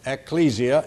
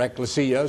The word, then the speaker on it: ecclesia: The word church is ecclesia, or ecclesia, if you prefer, or ecclesia, some people pronounce it.